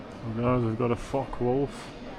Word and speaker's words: Focke-Wulf: So guys, we've got a Focke-Wulf. If you pronounce it like that. If not, just don't mistake me for swearing.